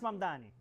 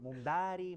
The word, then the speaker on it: Mamdani: Fíjense, nadie sabe pronunciar mi apellido. Es Mamdani. Pero a cada rato me dicen Mumdari, Mumnari.